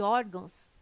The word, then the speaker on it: órgãos: correto caráter intransferível e órgãos tem sua sílaba tônica na penúltima sílaba são paroxítonas observação poderia gerar dúvida